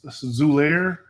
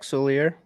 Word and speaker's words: Solier: I don't know if I'm probably going to butcher his name, but Mr. Zulair. Is that how you say it? How you say it? Zach Solier. Yeah, Zach Solier.